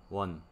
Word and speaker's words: won: En moneda de Corea se dice, se llama won, así se escribe. Won. Se lee como uno en inglés, won.